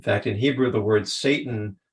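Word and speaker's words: שטן: tempts us in fact in Hebrew the word Satan pronounced Satan in Hebrew it means an adversary an opponent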